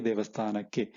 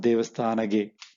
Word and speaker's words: devasthanake: Devasthana plus ge, devasthanake, to the temple. Navu devasthanake hodvi. We went to the devasthana. We went to the temple. Hodvi devasthanake, not devasthanage. It's very difficult to pronounce.